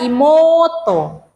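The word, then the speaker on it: 妹: misalnya sebutan Imo oto jadi tulisannya Imo tetapi harus baca imoto otouto ototo I kan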